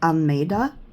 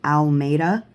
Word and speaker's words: Almeida: Spooky and Cute Halloween Witches by Helena de Almeida. Now, a lot of people will pronounce the last name wrong, which it's happened to me all my life, but it's actually pronounced Almeida, or Almeida, you know.